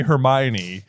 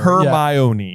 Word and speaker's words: Hermione: 4 still didn't quite know how to say Hermione. Yes. So she is sounding it out syllable by syllable, not for Crumb, but for you, the reader. For you, the reader. Hermione.